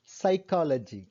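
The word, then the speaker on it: psychology: உள நூல் வந்து சைக்காலஜி. சைக்காலஜியில P வந்து சைலண்ட், ஃபர்ஸ்ட் லெட்டர் வந்து P.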